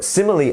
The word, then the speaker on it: simile: is a simile um so simile actually sounds like the word similar if you actually think about it in that way um and yes it's